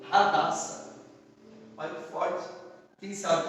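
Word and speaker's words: הדסה: A palavra murta no hebraico, ela quer dizer, ela falada, é pronunciada como Hadassah.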